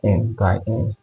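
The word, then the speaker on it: n × n: WR form is n * n but it's pronounced as n by n so where M by n or M by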